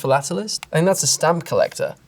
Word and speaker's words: philatelist: don't know about this is it is it's pronounced philatelist and that's a stamp collector because fellatialist sounds